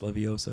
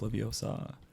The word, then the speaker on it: Leviosa: There's the one where she goes, it's not pronounced Leviosa, it's pronounced Leviosa.